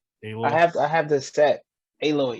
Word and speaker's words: Aloy: Aloy.